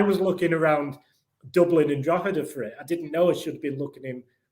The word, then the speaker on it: Drogheda: butcher the pronunciation, but Drogheda. Perfect. Spot on. Yeah. So that's how they say it in Dublin. If you go there, they say it more like Drogheda.